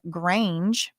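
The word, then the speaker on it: Grainge: um and its CEO Lucian Grange rhymes with strange of participating in Diddy's racketeering conspiracy.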